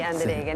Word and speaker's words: Andereggen: Bueno, estamos finalmente con el doctor Andereggen, para pronunciar bien su apellido, pues se escribe con doble G, pero es como si tuviese una U ahí, Andereggen, ¿no es cierto?